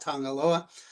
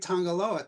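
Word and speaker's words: Tagaloa: Uh by the way in Samoan G is pronounced NG just a peculiarity left over from missionaries but um uh so this was Bisa Tangaloa uh sacred Tangaloa. Tangaloa is the creator god.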